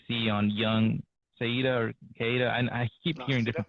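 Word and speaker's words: Caeda: one that you see on Young Saida or Kaida. And I keep hearing different pronunciations for her name. Shada or just call her Al-Qaeda. Everything is fine. Yeah. I mean, the proper pronunciation Sheeta, but who cares about that?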